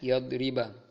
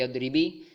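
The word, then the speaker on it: يَضْرِبَ: Tapi karena ada lan maka dibaca yadriba. Tidak boleh yadribi dan tidak boleh yadribu.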